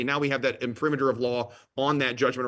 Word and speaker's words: imprimatur: Imprimatur is, I believe, the correct pronunciation.